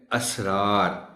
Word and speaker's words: اسرار: سین کے ساتھ ہے، مگر اس کا تلفظ ہے اسرار۔ وہ سر کی جمع ہے جس کے معنی ہے بھید۔ لوگ اس اسرار کو